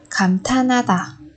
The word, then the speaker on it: 감탄하다: Ở đây than và ha chúng ta đọc thành tha na, 감탄하다. Bởi vì phụ âm hiệt đã chuyển thành phụ âm câm khi đứng sau cái pa chim ni ẩn như thế này.